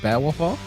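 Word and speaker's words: bewafa: The Pakistani say Tekken is it bear wafa? Is that how you say it, Spag? Yeah. Yeah.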